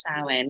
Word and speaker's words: Samhain: We've just passed Samhain, or some people might call it Samhain, but it's pronounced Samhain, which would be the Celtic end of the old year, beginning of the new year.